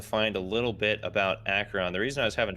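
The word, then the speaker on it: Acheron: was able to find a little bit about akron the reason i was having trouble is because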